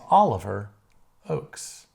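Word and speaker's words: Oakes: And we put a little phonetic pronunciation there for you folks. It is Oliver Oaks.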